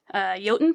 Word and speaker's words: Jotun: But there are also Jotun puffs, which I also was pronouncing in my head as like Jotten puffs this whole time until I saw the pronunciation in the back of the book.